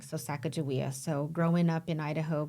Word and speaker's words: Sacajawea: or Saka or what are all the other pronunciations in in shash way uh we reference her with the J spelling so sakaia so growing up in Idaho growing up on